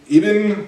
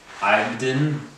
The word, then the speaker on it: Ibn: Ibn Yassin. No, it's Ibn. Ibn? Yeah. Is that what that is? It's Arabic.